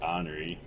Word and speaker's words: ornery: like ornery or nuri but yeah it's generally pronounced honoree like that was a word that i would